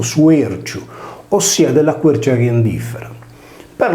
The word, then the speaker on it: Sruexu: Il suo toponimo nella variante locale, Suerciu, con la liquida R che si sposta in avanti di una sillaba, significa sugaretta.